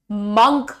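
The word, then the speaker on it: monk: बार बताया है कि यह मंक नहीं होता यह क्या होता है मंक होता है इट इज मंक डंक बंक मंक तो हम लोग जो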